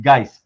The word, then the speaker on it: Guice: It's Guice, by the way.